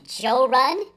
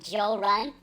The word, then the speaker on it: Jorrly: he finds my channel, he'll pronounce it Joe Run because I've had some friends from different parts of the South call me Joe Run, which is cool.